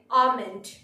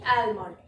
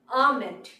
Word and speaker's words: almond: Pronunciation different, pronunciation হবে আমন্ড, আমন্ড। এই ওয়ার্ডটাকে আমরা মিসপ্রনাউন্স করে বলে থাকি অ্যালমন্ড, বাট the correct word is আমন্ড, almond.